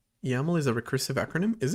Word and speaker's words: YAML: And then there's YAML which I used to pronounce as YML but turns out it's YAML.